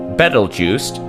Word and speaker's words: Betelgeuse: point first things first battle Juiced often pronounced like Beetlejuice comes from an Arabic